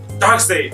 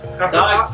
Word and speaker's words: Darkseid: we have Darkseid. Darkseid? Darkseid.